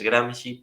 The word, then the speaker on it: Gramsci: Y una última cosa, hablando de pronunciación, la forma correcta de pronunciar, como quien dice, es Gramsci, porque los italianos la SC lo utilizan como sustitución de la X, por eso también fascismo, ellos pronuncian fascismo.